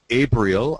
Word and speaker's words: Abrial: you the next panelist and that's uh abriel I got that pronunciation correct I think you sure did